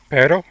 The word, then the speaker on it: pero: So we're going to take the Spanish word for but to say contraction pero. So basically the front of the tongue is going to tap the alvola ridge a single time basically only once.